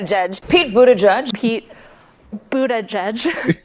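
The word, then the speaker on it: Buttigieg: judge Pete Buddha judge it all boils down to the vowels Buddha judge the vowel in this first syllable is not like boo but like book oh look and the last syllable isn't the UH vowel I can judge but it's the unstressed a vowel like in steerage edge so not but Buddha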